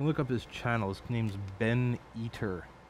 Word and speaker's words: Ben Eater: up his channels name's Ben eater like eater like like like he's a guy who eats things I don't know nothing fun of him that's just what his name is spelled like then he ben b